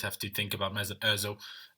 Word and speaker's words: Özil: to think about me Özil um meil how it's actually pronounced in German um but yeah you